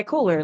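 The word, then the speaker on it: Kohler: you oh you're ker yes is that how you pronounce it yeah Coler like Toilet Company right okay that's yeah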